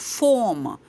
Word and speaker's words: formication: talk about formication and you heard me correct I did not say fornication I said formication so that word is